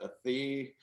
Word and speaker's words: Athey: So he's, you know, carrying on that even though my last name is Athey, I demand it's pronounced Athey, and that you know,